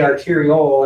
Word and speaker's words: arteriole: Sometimes I use the word arterial, which is referring to arteries in general. When I say arteriole and I stress the O sounding, I'm talking about this.